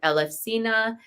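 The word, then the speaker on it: Elefsina: the city of eluses which in Greece they actually call it elefina and we're going to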